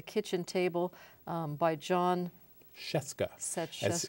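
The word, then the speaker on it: Scieszka: table um by John chesca as he says rhymes with Fresca chesca is a person of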